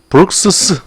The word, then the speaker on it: Brooks': 브룩스스. 자, 이런 표현 오랜만에 보네요. S로 끝났는데 또 S 붙이는 발음이죠.